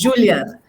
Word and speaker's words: Juliana: Juliana, porque en Brasil la J se pronuncia como J, entonces Juliana.